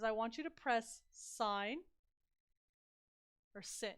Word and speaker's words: sin: want you to press sine or sit it looks like sin on your calculator SI n but it's it's pronounced sine and then just the